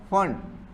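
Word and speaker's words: Pfund: Lyman, बामर, Paschen, bracket और फंड। पी आता है उधर, साइलेंट होता है, वो जब लिखेंगे तब प्रॉपर लिखेंगे, इसको याद रखना पड़ेगा।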